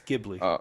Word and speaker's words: Ghibli: Away my neighbor tat Toro and Ponyo it's Ghibli you said it right okay Ghibli um my